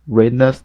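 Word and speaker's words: Reijnders: this season apart from Read Rainders. Rainas that's how we say that's how we say his name I would love him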